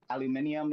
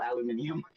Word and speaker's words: aluminium: Don't worry, I piss off every Home Depot store I go to cuz aluminium is still aluminium and I'm going to say it that way and then they all squint at me really hard.